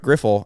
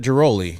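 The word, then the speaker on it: Ghiroli: And I think very interesting, PJ Mooney and Britt Griffel, and I might be saying her name wrong, Grihol. The Baltimore. I thought she used to cover the Nationals. Britt Giroli, you mean?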